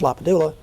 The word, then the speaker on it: LaPadula: When he grew up, he was Len Lapadula. He went off to college in the Jesuit called roll and said, Mr. LaPadula. And he liked it.